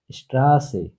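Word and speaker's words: Straße: Double S কে বলা হয় এস সেট, উচ্চারণ শয়ের মতো, যেমন স্ট্রাসে, স্ট্রাসে, রাস্তা।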